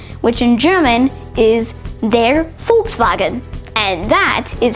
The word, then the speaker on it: Volkswagen: The way that most people would pronounce it is Volkswagen. However, the official German pronunciation is actually Volkswagen.